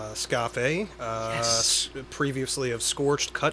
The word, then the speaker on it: Scafe: I'm Oatmeal Tits, that's Dead Nuts, and with us today of the bands Krieg and Scafe, am I pronouncing it correctly? Scafe, yes.